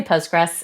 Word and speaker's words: Postgres: Just say Postgress and that keeps it simple. But yes, when you when you spell it with the full official name, there is a there is a QL tagged on to the very end of it.